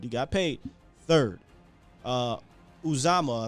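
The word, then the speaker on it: Uzomah: got paid third uh uzama i think is how you say it fifth higbee fourth so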